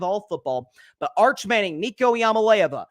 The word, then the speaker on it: Iamaleava: I've heard it pronounced different ways. I'm going to do my best. Nico, it's his first name, Nico Iamaleava.